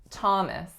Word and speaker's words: Thomas: again the first and what's the trick with Thomas it is that it was one of those rare exceptions in which the letters th do not produce a or a ooh but actually just make an aspirated sound to give us Thomas next one we have